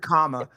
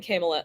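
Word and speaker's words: Kamala: you say your namea the word comma that's how they whatever comma I keep saying camela um what do you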